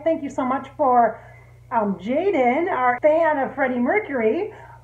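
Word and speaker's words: Jayden: I'm supposed to tell you that you pronounce it it's spelled J-A-Y-D-E-N. Jaden. It's not spelled that way, but that's how you'd say it.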